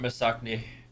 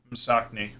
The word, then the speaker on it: Msakni: How do you say it? Msakni. Masakni? Like, Mm. sock. Sak. Ni. Sakni. I think it's a cool name. Yeah, like Yeah. Msakni. Okay.